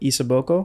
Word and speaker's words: Isaboko: to pronounce this correctly is it isaboko yeah oh yeah um your